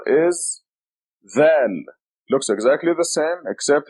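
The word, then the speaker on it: ذال: This is dhal. We write it like this. The name of the letter is dhal, and it is represented by DH. It sounds like TH as in then.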